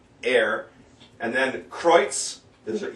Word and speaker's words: her: Hin und her, it's H-E-I-R, air.